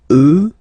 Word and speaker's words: eux: So the masculine form will change, and you get the sound remember, final X not pronounced, and then plural, elle, elle. Okay, so let's see them one more time. Moi, toi, lui, elle, nous, vous, eux, elle.